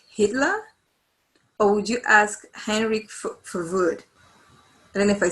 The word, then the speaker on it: Hendrik Verwoerd: Would you ask Hitler or would you ask Henrik Verwoerd? I don't know if I say his name right. Henrik Verwoerd, is that how you say that? Hendrik Verwoerd, yes, of course.